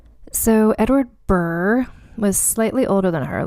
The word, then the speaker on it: Burgh: And I feel like it's pronounced Burr because that's how Lady Catherine de Bourgh is said in Pride and Prejudice. So Edward Burr was slightly older than